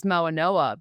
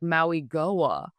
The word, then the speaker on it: Mauigoa: Like now, you know, I used to be scared to say Francis Mauigoa because it looks like Maui Goa. But it's Mauigoa.